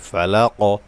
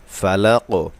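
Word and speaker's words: الفلق: আসলি কুল আউজু বিরব্বিল ফালাক বিরব্বিল ফালাক দেখুন কফে কলকলা করতে হবে আমি কফে ওয়াকফ করেছি এ কারণে এখানে সাকিন করতে হবে এবং এখানে কলকলা করতে হবে কলকলা একটি সিফাতের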